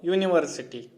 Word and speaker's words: university: Here a university. A university. Because here is also Y pronunciation. The pronunciation begins from pronounced with the consonant sound Y.